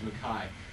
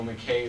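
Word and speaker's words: McKay: Mackay, which in Scotland, that's how we pronounce his name, is Mackay, because he is Scottish, and that's how they pronounce it. It's David O. Mackay, though.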